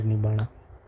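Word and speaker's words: nibbāna: हम स्टार्टिंग में एक चीज़ देखी है कि जो आर है पाली लैंग्वेज में वो साइलेंट होता है, तो निबाणा यहाँ पर है।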